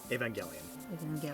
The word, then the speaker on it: Evangelion: Gelion or Gelion? Evangelion. Hard G.